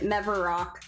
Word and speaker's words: Mevarok: Oh, that's how you pronounce it. Mevarok.